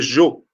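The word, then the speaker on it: sgiò: En Corse, on dit les Jo. Ça s'écrit S-G-I-O.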